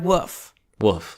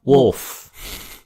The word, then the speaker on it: wolf: the word is pronounced wolf well it's a weird word I get it it's not fun to say pretend you got marbles in your mouth wolf wolf wolf it